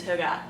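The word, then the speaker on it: hygge: many pronunciation videos but it's a Danish word I can't make the noise necessary to pronounce this correctly but I guess the American pronunciation is hoga um this saves me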